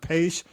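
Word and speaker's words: Paich: The musicians, the guy, I mean, the Toto guy, I think his last name is pronounced Page.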